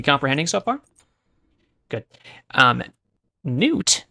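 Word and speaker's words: Nut: so far good um n is not the same word as new okay you still following along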